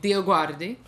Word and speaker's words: Dioguardi: Hi, I'm Dioguardi. Hi, I'm Will Petre. You can also say my name, Dioguardi.